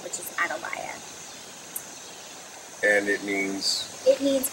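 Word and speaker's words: Atalaya: would have pronounced it closer to the Spanish way of pronouncing it which is Adia and it means it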